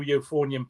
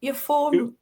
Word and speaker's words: euphonium: So we were able to get a new euphonium player in and I moved onto an even bigger instrument which was the tuber.